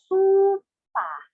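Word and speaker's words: スーパー: Next, supa. Supa or supermarket. This is where you would often do your groceries. Supa. Prolong su and pa because of the, again, yes, prolonged symbol.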